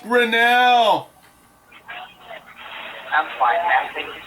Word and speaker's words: Grinnell: name is pronounced my last name is pronounced grinnell i'm fine man thank you so much for